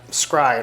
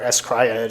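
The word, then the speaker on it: s-CRY-ed: roles and i mentioned uh scribe or s cryed if you want to pronounce it with the holes you know how many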